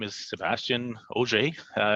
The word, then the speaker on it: Auger: my name is Sebastian OJ uh you can say auger that's that's fine too but it's actually pronounced OJ uh it's my first